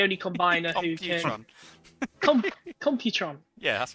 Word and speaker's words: Computron: I always say his name wrong. He's the only combiner who can. Computron. Computron.